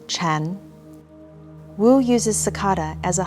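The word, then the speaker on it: 禪: parent and child zen in mandarin chinese sakata and zen are both pronounced chan wu uses sakata as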